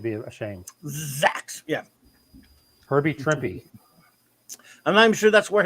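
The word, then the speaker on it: Trimpe: drippy though yeah it's trippy yeah it was just something i don't know some book about marvel it said trippy and then it said rhymes with shrimpy rhymes with shrimpy that's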